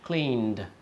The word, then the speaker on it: cleaned: Like cleaned, okay? Notice the ED there, but the pronunciation is clearly a D sound.